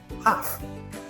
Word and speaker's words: half: Over time, speakers found it easier to drop the tongue movement for the L. For examples, calm, half, talk. Memory trick. L is lazy. No tongue movement needed.